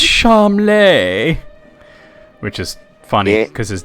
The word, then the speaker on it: Charmles: prince charmeles yeah it's pronounced charm lay which is funny because his dad chowder it's funny like that the party calls him charmless and most of the